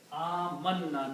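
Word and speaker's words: آمنّا: You can write down these 2 noons with a shadda like that. Amanna. Now it will be pronounced amanna.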